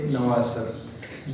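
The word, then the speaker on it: Navasard: एक कैरेक्टर है नवासर, ये डी जो है ये साइलेंट है तो इसका नाम है नवासर।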